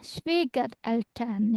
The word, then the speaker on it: Schwiegereltern: Genau bacanya ya, Schwiegereltern ya. Jadi enggak Schwieger tapi Schwiegereltern ya. Tuh, lihat. Kalau ipar kan pakai Pakai. A ya. Genau, Schwager ya. Sama Schwieger ya.